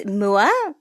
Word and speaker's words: Moua: to have and how do you say your last name so it's moola okay moua here today